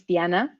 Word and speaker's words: Diana: My name is Diana, and it's actually pronounced Diana, as I'm from Mexico originally.